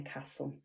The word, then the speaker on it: castle: And then we've got another grapheme representing S, and it's that silent T that we often see in words. And now our caption here is whistle in the castle.